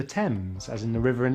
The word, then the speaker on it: Thames: Sometimes the H is silent in TH, such as Thailand, time, asthma, Thomas, and the Thames, as in the river in London.